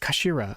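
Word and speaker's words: 頭: written in his head in Japanese but it's pronounced as Kashira I believe kashir so Mr ahsoki's words really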